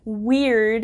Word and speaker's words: Wyrd: So you could probably tell a weird witch is kind of strange, because the middle word, weird, is not spelled W-E-I-R-D. It is spelled W-Y-R-D.